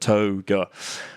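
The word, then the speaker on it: toega: T-O-E and then ga, like yoga, but toga.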